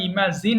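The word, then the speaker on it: imagine: ইগনোর ignored ইগনোর ইমাজিন এখানেও জ সাউন্ডটা শক্ত হবে আমরা অনেক সময় ইমাজিন বলি জ হবে না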